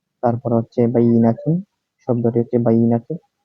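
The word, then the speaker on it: بينة: হচ্ছে বাইনাতুন শব্দটি হচ্ছে বাইনাতুন এই উচ্চারণের হচ্ছে বাইনাতুন অর্থ হচ্ছে স্পষ্ট সুস্পষ্ট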